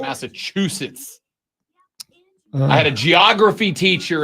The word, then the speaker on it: Massachusetts: There is no T in the back end of Massachusetts.